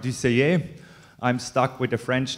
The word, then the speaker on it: Dusseiller: sounds good okay okay give hand please my my French name is a bit difficult to pronounce so my real name is DCA I'm stuck with a